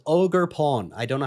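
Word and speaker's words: Ogerpon: they're right at the very back there called ogre Pawn I don't know how this is spelled but that's how it's pronounced as they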